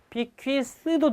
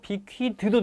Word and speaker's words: bequeath: 이 발음은 bequeath도 되고 bequeath도 됩니다.